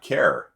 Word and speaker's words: char: It does not care. Right? Because some people pronounce char care, right? It's a care.